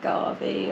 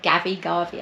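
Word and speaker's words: Gavi: No, Garvey, I think it's pronounced. It's Italian.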